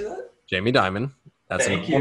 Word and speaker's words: Dimon: Jamie Dimon.